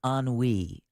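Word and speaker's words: ennui: weed is an emotion this is e n n UI and it's pronounced an we oh never heard of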